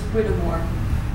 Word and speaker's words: Whittemore: The pronunciation of that name is Whittemore.